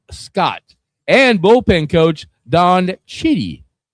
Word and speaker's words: Chitty: and bullpen coach Don Chitty. You You said it right. I would have said shitty, but hey, I'm trying to keep this correct.